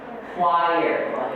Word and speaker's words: choir: Gimana cara bacanya? Ada yang tahu? Choir.